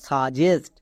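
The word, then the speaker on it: suggest: টি এর জন্য এস তাহলে বর্গীয় জো প্লাস এস মানে জেস্ট এর মানে পুরোটা কি দাঁড়ালো সাজেস্ট তাহলে বুঝতে পারলা আমরা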